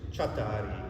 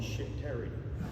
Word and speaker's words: Csatari: The pronunciation is Csatari in Hungarian. It means from the battlefront. But when I was growing up in high school, nobody could say Csatari. They always called me Shit-Terry.